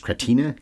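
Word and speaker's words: Kratina: library cinematographer was Richard I guess it's pronounced ktina k r a t i n a he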